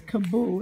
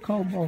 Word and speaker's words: Kaboo: It's Kaboo. It's not Kobo, Calvin.